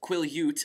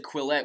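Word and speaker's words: Quileute: too perfectly set up I finally got the pronunciation of the reservation that the blacks live on quill Ute I always said quillette when I was reading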